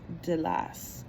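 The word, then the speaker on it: Delos: spelling of that is d-e-l-o-s but it is pronounced de la Athens provided the delinean league with most of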